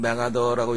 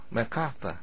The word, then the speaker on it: MacArthur: 우리가 보통 메가더라고 얘기를 하고 있는데 그 원어민식의 발음은 맥카터 이렇게 발음됩니다.